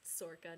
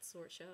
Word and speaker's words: Sorcha: So like you'll come across like Niav, which is Leodon's sister, and then Sorka's pronounced Sorka, not Sorcha or whatever, because that's how I used to pronounce it too.